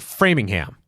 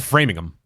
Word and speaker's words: Framingham: that makes sense because like Framingham yep we don't call it framing them yes Chatham I